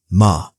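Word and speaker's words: 間: It is written with the character ma, and it is pronounced ma.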